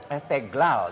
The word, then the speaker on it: Esteghlal: Esteglal gitu Esteglal, ya bacanya.